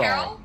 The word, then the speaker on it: Kerol: Carol? Carol. It's spelled Kerol.